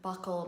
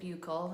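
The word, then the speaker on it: buccal: considered grasping or a buckle massage who knew that it was called Buckle I always pronounced it buul it sounds a little better than Buckle to me but Buckle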